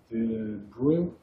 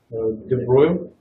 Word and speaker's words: de Broglie: It's written one way and pronounced differently. It's pronounced like de Broglie and it's written like de Broglie.